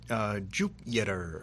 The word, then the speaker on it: Jupyter: And to Jupyter is spelled with a Y. Yes, correct. It's like Jupyter.